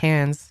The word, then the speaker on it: Cairns: Yeah, but that's spelled with an R, and then but it's like pronounced cans.